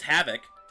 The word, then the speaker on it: Havik: Like, I haven't even looked up Havoc yet, but I'm pretty sure it is Havoc. Havoc, Mortal Kombat. Havoc, but it's spelled different. It's like there it is, yeah, Havik.